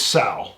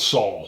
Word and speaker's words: Sal: It's Sal. It's not Saul. It's Sal.